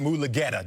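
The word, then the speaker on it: Mulugheta: And I expected greatness out of Deshaun and out of our boy, David Mulugeta.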